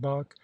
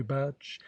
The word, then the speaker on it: Bach: We both thought great things of Bach, whom I found I was calling quite incorrectly, Batch, and Mozart, who also had to be pronounced a little differently.